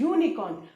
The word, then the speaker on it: unicorn: इज a vowel, but जब हम इसको बोल रहे, हम इसको यूनिकॉर्न नहीं बोल रहे बेटा, यूनिकॉर्न, the correct pronunciation is यूनिकॉर्न। यूनिकॉर्न य साउंड, वाई वाला साउंड आ रहा है ना।